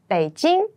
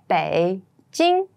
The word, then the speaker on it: Beijing: list among them you probably have heard about Beijing and Shanghai Beijing be Jing Beijing Beijing is the capital of China it's